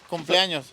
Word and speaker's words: cumpleaños: Cumpleaños.